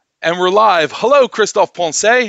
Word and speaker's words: Poncet: The French way of pronouncing it is Christophe Poncet, but usually in English it gives Christophe Poncet.